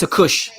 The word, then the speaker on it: Takoucht: His name is Takoucht, according to Andre. That's how you say it, Takoucht.